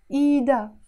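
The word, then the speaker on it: إيدها: need her hand again we don't say eat ha in Lebanese we would say EDA her hand eat now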